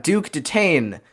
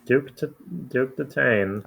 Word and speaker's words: Duke Detain: yeah, and we have Duke Detain, whose name funnily enough rhymes with Chase McCain. Hmm. Yes, Duke Detain.